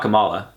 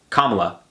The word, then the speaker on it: Kamala: It's not Kamala. It's Kamala. Kamala? Kamala. People say Kamala.